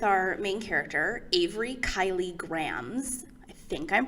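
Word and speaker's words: Grambs: main character avery kylie grahams i think i'm pronouncing that name right there's like a silent b at the end of grams and it's actually kind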